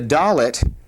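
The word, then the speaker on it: דלת: The dolllet uh with or without the dot is going to have a definite d sound. D as in day.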